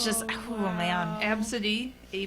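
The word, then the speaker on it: Abcde: story before not like it's just oh man absidy AB B CDE E Yeah absidy is a very popular girls name actually surprisingly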